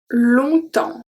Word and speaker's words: longtemps: Longtemps. Longtemps. Longtemps. Okay, so you hear longtemps. Longtemps. So here, we don't pronounce the G, we don't pronounce the P, and we don't pronounce the S.